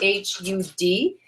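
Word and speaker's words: Har: the the Mantra H is spelled h a but it's actually pronounced h u d and HUD is also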